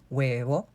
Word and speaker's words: huevo: Unless it's next to the letter C to make the ch sound, the H just doesn't exist. So please, please never pronounce it. Listen carefully as we say huevo, hueco, hueso.